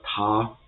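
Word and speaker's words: 他: So for the pronunciation of ta, so this AR has the same mapping, same pronunciation as AR in the English word car.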